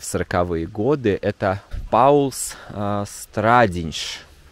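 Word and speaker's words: Pauls Stradiņš: в 40-е годы это паулс страдиньш наверное так правильного надо произносить Я знаю что здесь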